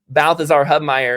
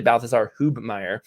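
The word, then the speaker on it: Balthasar Hubmaier: strongly for uh sorry some people say balthazar hubemeyer but anyway uh so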